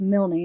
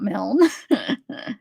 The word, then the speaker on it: Milne: All right, so remember when we talked about this Cody Milne? And I learned that it's pronounced Milne, not Milne, because I called the towing company to try to get some information.